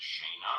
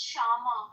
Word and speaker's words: Shama: Let's go to Shaina. I hope I'm pronouncing that right. You have a fresh five. What would you like to talk about? Hi. Hi, Steve. It's Shama. Sh.